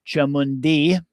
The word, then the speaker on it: Chamundi: wrathful form machamunda or to use the Nepali and Tibetan pronunciation of her name Chamundi um is Lord Yama's